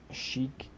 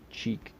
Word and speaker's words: Chic: Well, I mean, like right there, Chafer, Shaffer, Chic. It's not pronounced cheek.